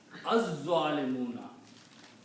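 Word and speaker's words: الظالمون: It kills the sound of lam, and you pronounce za twice. Az-zalimuna.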